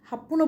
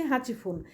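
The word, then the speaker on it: はちふん: Niju হাচিফুন 28 minute হাপুন বলতে পারে কোন এরিয়াতে বাট আমরা এটা বইয়ে শুদ্ধভাবে বলেছি হাচিফুন নিজু খিউফুন 29 মিনিট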